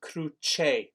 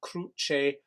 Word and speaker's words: cruce: And the pronunciation here is in cruce, please, a ch sound, in cruce pro homine at the end there, please, bases.